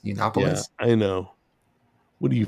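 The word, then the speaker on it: Yiannopoulos: Uh, his last name is pronounced Yunopolis. Yunopoulos.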